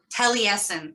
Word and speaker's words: Taliesin: Taliesin, thank you, choir at the Frank Lloyd Wright, one of my favorite architects, Institute in Scottsdale, Arizona.